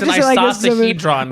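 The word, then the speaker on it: icosahedron: Like, guys, It's I'm an just isosahedron, Right. the correct name No, of isosagon. it. It's not an isosagon.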